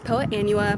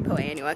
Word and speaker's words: Poa annua: of two different ways there is poe anua poa anwa there's a couple different ways that people pronounced it i say poe annua because it's annual that's the whole point it is an annual bluegrass when a plant is